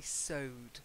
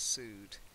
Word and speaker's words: sewed: Courtier, imperial, and most importantly, sewed, not sued.